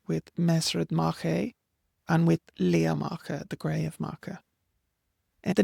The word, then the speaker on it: Liath Macha: with Ard Macha, with Mesred Macha, and with Lea Macha, the Grey of Macha.